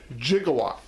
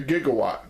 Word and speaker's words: Gigawatt: figure i just purchased known as jigawa now i've seen other reviewers they say gigawatt but i'm going by the back to the future reference by the m with the how the movie pronounce it and they say gigawatt 1.21 gigawatts as you see